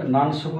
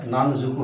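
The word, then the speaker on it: 何足: শকু আসবে, কয়টা, কিন্তু উচ্চারণটা হয়ে যাবে নান শকু না হয় নান জুকু হয়ে যাবে। নান, নয় এবং স, নান জ হয়ে যায়, তাহলে নান জুকু।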